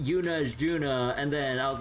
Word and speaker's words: Juna: And then like, and then there's like in Trails, there's like a character named Yuna, but spelled J U N A, but then there's a fortress location spelled J U N O, but that's pronounced Juno.